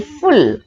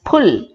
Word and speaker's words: full: Similarly, F-U-L-L, full, pronounced as pull. Correct pronunciation, full.